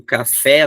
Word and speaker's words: café: Ou colocaria aqui o café no final, que tem som aberto.